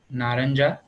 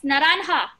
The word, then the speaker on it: naranja: Naranja. No. What did I tell you? Yes, naranja. Naranja. Remember the J is like an H.